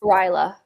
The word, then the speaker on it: Rilla: the last book is it Rilla or Ryla's? Ryla.